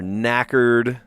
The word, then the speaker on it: knackered: you're tired, when you're knackered. I saw the two K's next to each other. I was like, is it a KK word? I don't think so. KN, silent K at the beginning.